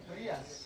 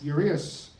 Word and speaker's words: Urias: Urias. Urias.